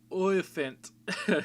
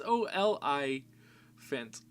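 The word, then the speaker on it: oliphant: Then we have 4 elephants, which I just call them the elephant, but they're war olephant. I guess is how you say it, because it's OLI-phant there.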